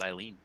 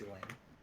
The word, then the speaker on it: Elaine: Oh, I thought that was Eileen. No, it's pronounced Elaine.